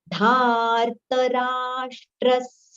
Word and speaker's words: धार्तराष्ट्रस्य: Dharta and not dhartra. Dhartarashtrasya durbudher.